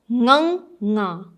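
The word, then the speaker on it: ਙ: you can use is first pronounce ang. So pehla ang pronounce karo and practice this constantly. Ang, ang, ang, ang, ang. Okay. Then you add ang, ngang, ang, ngang, ang, ngang. Then you add ang, ngang, nga, ang, ngang, nga.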